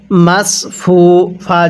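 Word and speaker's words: مصفوفة: এক আলিফ টান দিব মাসফুফা জবর ফা তা দুই পেশ তুন মাস মাসফুফাতুন তাহলে ওয়ানামারি মাসফুফা এই সদ সদ উচ্চারণ করতে হবে যদি সদকে সিন উচ্চারণ করি তাহলে পটা সহ শুদ্ধ হবে না ওয়ানামারি মাসফুফা তাহলে ওয়ানামারি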